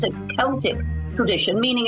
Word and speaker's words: Celtic: Celtic but miss says Celtic like with the K why is that in Ireland the word Celtic is typically pronounced with the k sound similar to the British English pronunciation but in America the